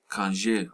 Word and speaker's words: kanje: Their assumption was that we were mispronouncing the word conjure within African Southern Ebonic dialect, thus sounding like conjure or kanje. In reality, we were saying kanje all along.